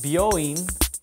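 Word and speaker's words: 病院: then this line here there you go it's pronounced booin in Japanese and this is the Kani for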